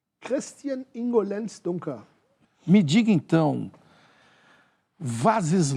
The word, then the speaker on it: Dunker: Christian Ingo Lenz Dunker. Esse Dunker está errada a pronúncia. Christian Ingo Lenz Dunker.